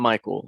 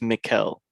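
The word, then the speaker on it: Mikkel: man's name or just i don't want to say michael it's not michael i think it's mikel mikel mikhail damsgaard uh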